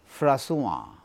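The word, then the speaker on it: François: অ, দ, ভ, অ এই সাউন্ড যদি থাকে উচ্চারণটা নাকে আসে। যেমন ফ্রাসুয়া, ফ্রান্সের প্রেসিডেন্ট ছিল ফ্রাসুয়া মিতেরান্ত।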